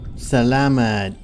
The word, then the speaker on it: salamat: you taught me that one yet it's Salama salamat oh yeah that's right the lemon viewers for